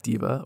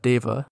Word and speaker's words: deva: Unity of Rings is a Movanic diva, or perhaps you'd like to pronounce that Deva, I know I would, but apparently that's not how it's pronounced, who flies around Sigil